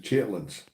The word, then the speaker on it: chitterlings: and they are prolific chitterlings do you like chitterlings chitlins well I guess it how's it pronounced okay Judy pronounces it generates we pronounced it chitlins okay and no I